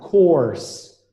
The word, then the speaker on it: course: make curse nope yeah so curse is not a sound course course the main curse rhymes with horse okay nickers horse yeah